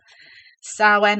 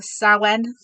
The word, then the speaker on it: Samhain: because I checked I know I'm terrible with pronunciation but I believe sawen or sowen is the way that you pronounce it so